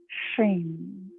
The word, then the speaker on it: Shrim: On the left side of the brain, connecting with the Bija sound, Shrim for Lakshmi. Shrim. S-H-R-I-M, often it's spelled S-H-R-E-E-M is how it sounds.